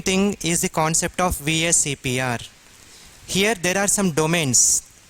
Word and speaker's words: VSEPR: VSEPR theory. You have to abbreviate or you have to pronounce it as VSEPR theory only, because in